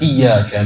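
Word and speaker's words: إِيَّاكَ: Tasydid ini artinya asalnya ada 2 huruf, Pak. Ya-nya ada 2.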